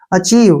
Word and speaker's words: achieve: यहां से ध्यान से देखिए, ए का उच्चारण क्या हो गया, ए, ठीक है, CH से च हो गया, और ध्यान दीजिए यहाँ पे IE का उच्चारण ई के रूप में होगा, और VE का उच्चारण व होगा, लास्ट में ई का उच्चारण हम नहीं करते हैं।